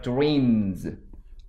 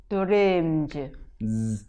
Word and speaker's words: dreams: dreams. Dreams. 즈. dreams. 드림즈. 이렇게 발음하면 됩니다.